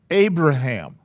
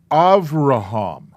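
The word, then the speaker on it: אברהם: it's a v sound the name abraham it is pronounced avraham but the vet the second letter is a vet can be pronounced as a b as a bet so you can say ab raham now i'm going to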